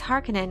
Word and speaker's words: Harkonnen: to point out that pronouncing it as hearkening is incorrect i feel that in